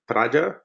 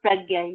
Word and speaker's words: Pragya: The first one is from Praja. Is that the right way to pronounce the name? Hi, Matthew. This is Pragya. You can call me Pragya.